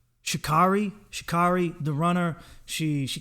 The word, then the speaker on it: Sha'Carri: track on you she's i also like how she her name is spelled because it it sounds like like how it's spelled anyway shikari smoked weed now she